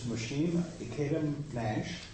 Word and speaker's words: Mushim Ikeda-Nash: welcome once again our speaker this morning is mhim eam Nash did I pronounce that machine yeah thank you thank you